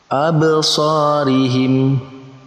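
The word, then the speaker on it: أَبْصَارِهِمْ: Maka cara membacanya yaitu dengan memantulkan huruf ba yang berharokat sukun. Absarihim. Nah, kita lihat, perhatikan absarihim. Nah, di situ ada ba berharokat sukun, kita pantulkan.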